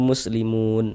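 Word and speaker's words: مسلمون: Ini kalau kita baca Al-Qur'an tidak berwakaf, tidak berhenti di huruf nun, kita wasolkan muslimun dan langsung kita teruskan, kita sambung bacanya, maka panjangnya mu tetaplah menjadi mad tabi'i dan dibaca dengan panjang 2 harokat.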